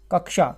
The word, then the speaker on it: कक्षा: देख लीजिएगा ठीक है कक्षा शब्द का सूक्ष्म जो शुद्ध उच्चारण है कक्षा शब्द तो कक्षा होता है एक्चुअल में कक्षा क्यों क्योंकि आपको पता